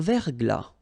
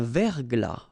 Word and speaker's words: verglas: Un verglas. Un ciel clair. Un ciel couvert. Un ciel nuageux. Une bruine. So let's see them. Une rosée, final E not pronounced. Un verglas, final S not pronounced. Un verglas.